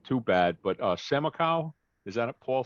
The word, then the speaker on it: Samakow: that's an a minus so it rhymes with the gas station amaco with an s in front of it samaco samaco okay cool and but